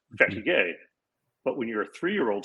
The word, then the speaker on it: fatigue: And the French word for tired is like our word fatigue. But it's pronounced fatigue.